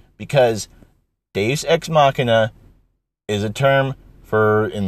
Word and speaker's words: Deus ex machina: Because, let me tell you, you're saying it wrong, first of all. You mean to say Deus Ex Benjen, Deus Ex Dragon. Because Deus Ex Machina is a term for,